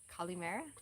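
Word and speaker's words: καλημέρα: you say it colleen mayer one more time kalimera colleen mara calimera are you talking about calamari no i'm not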